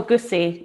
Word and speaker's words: egusi: Sorry, is it egusi stew or egusi soup? Oh, egusi, yeah, egusi. Yeah, help me there with my pronunciation.